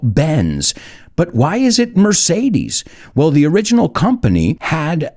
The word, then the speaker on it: Mercedes: And when I say the word Mercedes, o bueno, lo pronuncio a la española, Mercedes, what do you think of? Benz, right? I say Mercedes, you say Benz.